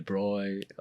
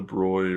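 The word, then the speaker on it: Broglie: Yeah, the names start to confuse me, the bi, the broy. The Oh. broccoli, Yeah, it's literally spelled like the broccoli. the broy, or something like that.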